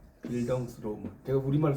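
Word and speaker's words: Bildungsroman: 빌 이걸 빌덩스라고 읽어요. 빌덩스 로몬.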